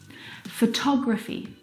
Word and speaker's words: photography: the second example photography you can hear the pronunciation is different and that's because the second syllable is the stressed syllable in this word photography o tog photography comp